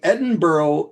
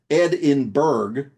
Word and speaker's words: Edinburgh: You see, Edinburgh is not pronounced Edinburgh from the Saxon phrase meaning Ed in a mountain. It is pronounced Edinburgh, literally Ed on a donkey.